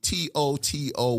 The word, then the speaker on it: TOTO: pronounced i said tutu t-o-t-o washlet but you know i'm a geechee from south carolina i call it toto toto like the dog like we're not in kansas anymore okay so toto washlet by definition that